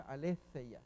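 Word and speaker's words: ἀλήθεια: Aquí tenemos aletheia, se pronuncia aletheia.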